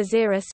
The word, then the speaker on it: Xerus: In 2003, XCOR proposed the Xerus (pronunciation: Xerus) suborbital spaceplane concept.